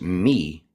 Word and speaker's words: me: If we go back to the ancient Sumerians where the word me actually originated as an am I, me, and it's pronounced me, it meant a divinity, it meant divine, it meant that Yes.